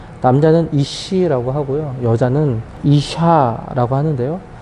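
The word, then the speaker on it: אשה: 여자라 부르리라 하니라 남자와 여자를 히브리어로 보았을 때 발음이 매우 유사합니다 남자는 2시 이라고 하구요 여자는 이샤 라고 하는데요 즉 워너 적으로도 남자 라는 단어에서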